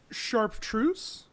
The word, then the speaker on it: chartreuse: Chartreuse? Freaking, however, I've never heard it pronounced before, man. That's okay. Allow me to elaborate. It is pronounced chartreuse. That's weird. There's no P in it.